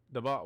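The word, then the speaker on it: Daboll: The ball, whatever. How you say his name? The ball.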